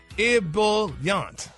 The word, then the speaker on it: ebullient: It's an adjective, Ricky, and it's pronounced ebullient. Ebullient. Oh. And what's the adjective for everybody that's been out of school 30 years? Ebullient. No, what's the adjective? Oh, Ebullient. Ebullient. IHBULLYUNT.